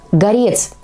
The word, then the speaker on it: Горец: слог следующее название Горец именно так надо произносить это слово Если речь идёт о растении а не о человеке с гор эти два слова Горец и Горец пишутся одинаково но произносятся по-разному Запомните это сейчас будет ещё